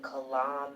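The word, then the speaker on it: Kalam: A related modern version is the calam cosmological argument. Is that did I pronounce it right? You did.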